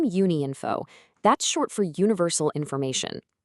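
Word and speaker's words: Unïnfo: And just so we're all on the same page, it's pronounced Uni Info.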